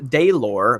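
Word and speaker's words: Delor: great Michael a my name is pronounced de lor by the way well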